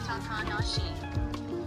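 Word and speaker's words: 小鳥遊: Shonayu is pronounced Takanashi. When none of the words even have that pronunciation. The words literally mean little bird plays with the pronunciation means no eagle. It's an implied meaning that results in such a pronunciation quirk. So literally none of the kanji have those pronunciations, but together they call themselves that.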